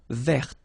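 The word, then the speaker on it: vert: So masculine form you don't pronounce the final t feminine form ver. So listen carefully I don't say t but it's t ver.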